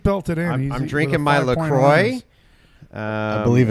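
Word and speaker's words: LaCroix: in I'm drinking my lroy uh I believe it's pronounced laqua laqua laqua no not lra I don't want FR it does sound French is that like French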